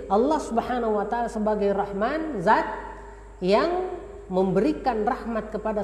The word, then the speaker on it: Rahman: yaitu QNet nah Rahman Ya Rahman yang kita bacanya Rachman Itu dari sisi timbangan